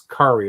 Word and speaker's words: Kari: Is it Carrie?" He's like, "No, it's Kari. It rhymes with Atari."